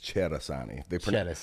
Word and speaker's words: Cerasani: I got to tell you, man, when I'm in Italy, which I was last summer, the true Italian way to say it is Cerasani. They pronounce CE with a CH.